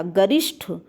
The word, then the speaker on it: गरिष्ठ: बात करें गरिष्ठ, गरिष्ठ टा नहीं होता, गरिष्ठ ठा शब्द होता है, ध्यान रखिएगा।